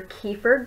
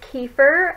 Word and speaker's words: kefir: This video is about thawing out your kefir grains. Yes, I am still pronouncing it kefir, or I know it says kefir or something like that.